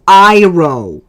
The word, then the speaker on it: Iroh: How do you mispronounce Iroh? It has I in the name!